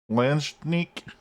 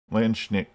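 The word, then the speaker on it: Landsknecht: Landschneek? We went last time we went and had Google tell us how to pronounce it. And it was, I think it was Landschneek. The K was silent. Landschneek.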